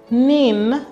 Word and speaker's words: NIN: national identification number nin the national identification number pronounced nin is what identifies an